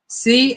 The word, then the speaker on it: campanelle: Would it be campanella or campanelle? Campanelle, because it's got an E at the end instead of an A. Campanelle.